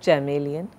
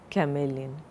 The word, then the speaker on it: chameleon: It's not chameleon, chameleon.